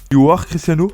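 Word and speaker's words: UR · Cristiano: milieu de son nom, comment bien prononcer le nom de la chaîne de Cristiano Ronaldo ? U Cristiano, you Cristiano, you are Cristiano. En effet, il faut le lire en anglais.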